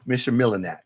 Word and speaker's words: Michilimackinac: Michilimackinac is how you say it.